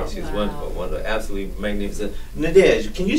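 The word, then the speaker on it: Nadège: I just assume people can say Nadege. it's N-A-D-E-G-E. Last name is. There's a little accent on the E of Nadege, but don't worry about that.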